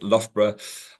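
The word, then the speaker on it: Loughborough: like logo and everybody struggles with but it's pronounced lra um and I'm today I'm going to talk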